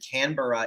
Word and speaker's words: Canberra: It's Melbourne, and then Canberra is Canberra.